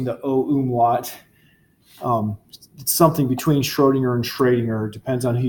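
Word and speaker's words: Schrödinger: quarter German but I still don't feel comfortable pronouncing the om wat something between Schrodinger and Trainer depends on who you talk to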